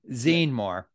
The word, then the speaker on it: Zene-Moore: Zene-Moore. Am I pronouncing your last name correctly? Zene-Moore? Zene. Well, I was saying Z, but I got you know funny. Zene like magazine. Yeah. Oh, Zene. Zene-Moore.